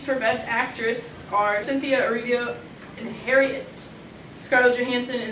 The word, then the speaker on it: Erivo: But who I think will win will be Cynthia Erivo.